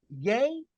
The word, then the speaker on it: Ye: and let us talk how do you say his name yay yay yay day as in Kanye West okay so Mr